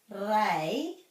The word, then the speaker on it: rei: one nor and then this is rei it's rhyming with k k e i like for kate de pai reida if